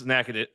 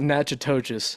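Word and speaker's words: Natchitoches: pronounce that in Louis I believe it's it's naad naad there you go there you go Naish y y want to make my Louisiana friends mad it's not natches no it's it's nackadish I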